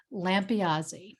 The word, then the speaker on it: Lampiasi: you may have heard how to pronounce my name correctly so i'll just do it one more time so it's that part's easy lampeazy so for those who